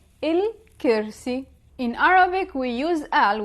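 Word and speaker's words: الكرسي: In the MSA, Modern Standard Arabic, it is pronounced al. But in the Levantine dialect, we pronounce it il. For example, the chair, in the Modern Standard Arabic, you would say al-kursi. In the Levantine dialect, we would say il-kirsi.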